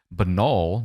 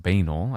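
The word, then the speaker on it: banal: Benol, not pronounced bananol. I pronounced it banol for many years.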